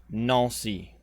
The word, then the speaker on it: Nancy: the nosy affair and it's going to look like nancy but it's pronounced no see this town right up